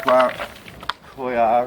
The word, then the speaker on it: coir: Right, now you need a pot to put them in, and I first put some coarse coir in the bottom.